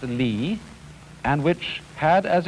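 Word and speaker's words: 理: world do you remember this word which is pronounced li and which had as its original meaning the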